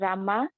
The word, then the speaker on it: Rama: hare krishna as krishna and rama rhymes with drama are some sweet words